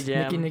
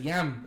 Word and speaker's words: Jam: Nicky Jam. Nicky Jam. Nicky. He said it like 3 times. Nicky, He doesn't say jam, he says yam.